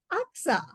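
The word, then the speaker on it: Agassaim: It may be spelled Agasim, but it's pronounced as Aksa.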